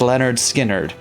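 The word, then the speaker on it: Lynyrd Skynyrd: their 1973 debut album pronounced leonard skynyrd it was written by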